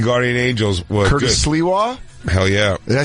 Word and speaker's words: Sliwa: Sliwa? Hell yeah. Did I say his name right? Our last line of defense. Yeah, Curtis Sliwa.